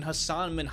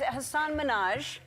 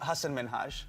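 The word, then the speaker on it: Hasan Minhaj: Mina on the show when she pronounces his name wrong. It's so nice to meet you. I'm a huge fan. Thank you. I'm a huge fan of you. Thank you. And it's Hassan Minaj. Yes. No. Really? Well, my name is Hassan Minhage. Oh. What made it even worse was that she insisted that was the right way it's pronounced, clearly making him frustrated.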